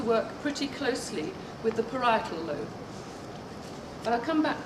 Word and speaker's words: parietal: The parietal or paratal does anybody know how it's pronounced? Parietal. Parietal. Thank you.